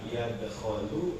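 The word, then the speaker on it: يدخل: Pertanyaannya yang benar itu bacanya dakhala yadkhulu apa dakhala yadkhulu?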